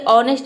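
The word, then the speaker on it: honest: ह प्रोनाउंस करते हैं लेकिन देख लीजिए ऑनेस्ट में ह का साउंड नहीं है मतलब कि यहां पे ए लेटर साइलेंट है ऑनेस्ट मतलब होता है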